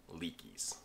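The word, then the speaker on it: Leki: If you carry this brand to Poles, you're carrying a pair of Leakies.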